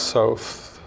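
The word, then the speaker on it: Soth: Um, I wanted to mention Alex South. Yeah, South rhymes with both.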